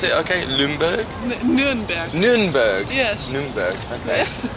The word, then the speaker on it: Nürnberg: Did I pronounce it okay? Nürnberg?